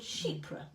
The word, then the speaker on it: Chypre: You say it like sheep, Yeah. and then ra at the end. Not Chypre. Not sheep.